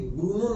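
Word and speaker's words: Brno: का नाम है ब्रूनो, कई बुक में इसको ब्रून भी कहा गया है, तो ये प्रोनाउंसिएशन का फर्क है।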